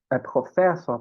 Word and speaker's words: Professor: Gente, a tônica, ela dificilmente cai na última sílaba, viu, em alemão? Dificilmente. Então, aqui nesse caso, Professor, por exemplo, vai cair aqui, no fé. Então, der Professor.